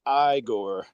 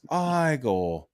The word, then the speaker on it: Igor: No, my n my name's pronounced igore. It's pronounced igore.